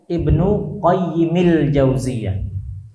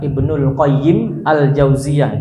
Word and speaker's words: Ibnu Qayyimil Jauziyah: Kunyahnya itu siapa? Ibnul Qayyim atau Ibnu Qayyimil Jauziyah. Apa maksudnya? Dan bukan Ibnul Qayyim Al-Jauziyah, itu kurang tepat. Karena Ibnu Qayyimil Jauziyah itu artinya anaknya si pengurus pesantren Al-Jauziyah.